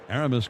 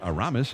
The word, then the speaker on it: Aramis: with the Giants, that he doesn't like to have it pronounced Aramis. He likes to have it as Aramis. That's the way he grew up.